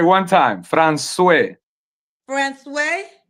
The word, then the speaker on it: François: François. Francois. François.